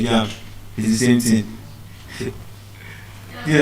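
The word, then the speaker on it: japa: The slang is spelled J A P A. Ja if I call it with the Euroba asent it is Ja do you understand but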